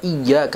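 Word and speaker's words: إِيَّاكَ: di dalam lafadz dia di dalam huruf ya ada tasjid atau dibaca dengan cara menekan seperti ada dua huruf yang satunya mati kalau kita membacanya tidak dengan bertasydid maka akan menimbulkan arti yang sangat luar biasa berbeda dari apa yang dituju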